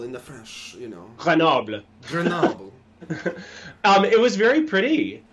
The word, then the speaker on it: Grenoble: How do you pronounce Grenoble in the French, you know? Grenoble.